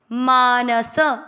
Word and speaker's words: मानसः: मानस, न और स दोनों अक्षर पूरे हैं, दोनों में अ का उच्चारण आएगा। मानस, स में अ की मात्रा तो विसर्ग को ह, मानसः।